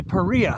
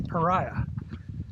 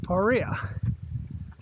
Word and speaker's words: Paria: do it again so people ask why do you say paria I've heard so many people say pariah okay well it turns out the original settlement was spelled p-a-h-r-e-a-h so perea uh they later changed